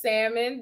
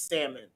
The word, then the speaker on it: salmon: up for the debate the l is silent i need y'all to